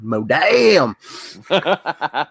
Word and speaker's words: MODAM: Or if you remember, gentlemen, pronounce it the right way, Modam. Modam. Got to say it like you're from the South.